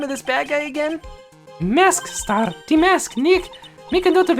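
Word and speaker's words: Mask☆DeMasque: this bad guy again mask star de mask Nick make a note of it mask star de mask we have to pronounce the star every time Maya it was terrible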